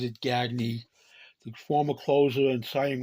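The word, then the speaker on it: Gagné: He pronounces it Gagy.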